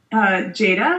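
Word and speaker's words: gEDA: We say Jada. Okay. I've heard people say Gata, Gita, Jada, but I say Jada.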